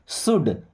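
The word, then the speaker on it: should: है मैं या मुझे शुड इस वर्ड में एल साइलेंट है ध्यान रखिएगा शुड नहीं शुड क्या पढ़ेंगे शुड मुझे चाहिए चाहिए गो।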